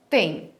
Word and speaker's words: têm: têm é muito bem a única diferença do singular para o plural é o acento a pronúncia é a mesma ele tem eles têm muito bem quando usamos